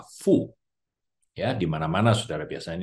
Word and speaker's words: 福: Ni si yu fu de. Saudara, maka dalam tahun baru Chinese seperti malam hari ini, saudara, kita sering menemukan, saudara, karakter Mandarin seperti ini, saudara, yang dibaca adalah fu.